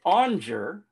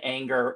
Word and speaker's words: Aunger: either by the way and it's spelled a-u-n-g-e-r it's pronounced onger but a lot of people say anger and hunger and everything else so people butcher me